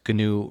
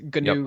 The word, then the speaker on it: GNU: saying that right it's gnu radio you are yes ganu radio sometimes you don't know if the g is silent or not but so let's talk